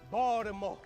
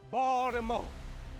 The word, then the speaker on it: Baltimore: Don't pronounce the T. You hear that word? Baltimore. Baltimore.